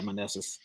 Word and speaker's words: Meneses: Meneses? Yeah, Meneses.